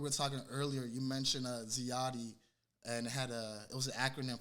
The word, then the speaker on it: ZIATI: Yeah, people have a hard time pronouncing ZIATI, but this is how you say it, ZIATI. ZIATI.